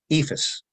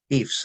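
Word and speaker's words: EIFS: the surrounding states uh ephus or eefs as Some people prefer to pronounce it is in uh also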